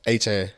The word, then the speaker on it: Achane: I heard that my last name so many different ways, but it's pronounced Achane.